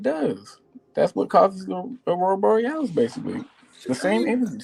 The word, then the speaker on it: Aurora Borealis: Aurora Borealis.